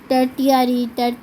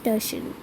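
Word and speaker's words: tertiary: नेट सब बहुत ज़्यादा बच्चे टर्टियरी कुछ भी बोलते रहते हैं, बट it's actually pronounced as टर्शरी। तो इतना समझ आ गया।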